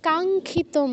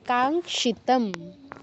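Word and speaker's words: কাঙ্ক্ষিতম্: তারপর দুই নাম্বার লাইনে কাঙ্খিতম কেন খায় আছে খ তো নেই কাঙ্খিত হ্যাঁ কাংশিতাম আপনি জানেন তো তারপরেও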